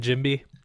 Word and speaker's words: Jimby: It's like Gumby's cousin, Jimby.